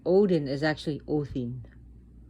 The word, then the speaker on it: Odin: as the son of orthin and they don't even pronounce the names right odin is actually o thin the d is a d h sounding so a quick so